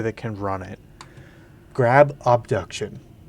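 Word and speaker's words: Obduction: can run it, grab Abduction with an O, like abduction but spelled with an O.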